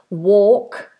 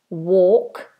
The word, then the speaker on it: walk: yes talk talk Noel walk walk no l palm palm palm of